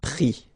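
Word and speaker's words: pris: And then prendre, so e-n-d-r-e, will give es. Prix, okay. Same thing here, you don't pronounce the final s, okay.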